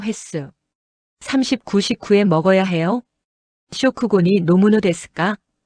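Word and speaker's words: 食後: 쇼쿠고니 노무노 데스까? 쇼쿠고는 식후. 한국어 식후랑 발음 거의 동일.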